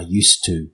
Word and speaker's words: used to: So, the used to comes almost sounds like one word. I used to. The D sound completely disappears when we're speaking.